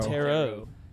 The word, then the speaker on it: tarot: to find out is why you don't pronounce that last t is it terret or tarot tarot it's tarot right that's what i'm saying